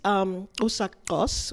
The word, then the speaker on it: Usakos: So this is Usakos, which is a place in Namibia. I pronounce it the way they do with that.